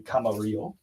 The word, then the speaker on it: Camarillo: Stephen we're going to Camarillo California or kamario I'm not sure how they pronounce it I guess would be kamario but I've been wrong before all right next